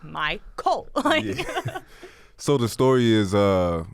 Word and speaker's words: MyCole: it's simple cuz it's it's spelled the way it's exactly as it's pronounced even put the capital c emphasize yeah but uh like my cult so the story is